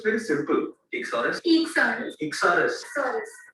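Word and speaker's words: Eeksaurus: Ichsaurus, not Echosaurus. Ichsaurus. Ichsaurus. Ichsaurus. My entire team can pronounce it so easily, and it's because it's very simple. Ichsaurus.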